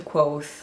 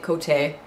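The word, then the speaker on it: Kvothe: what the hell happened quote that made him become I'm pronouncing it Cote the innkeeper what changed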